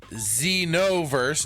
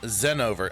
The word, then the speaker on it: Xenoverse: Xenoverse, not Zenover.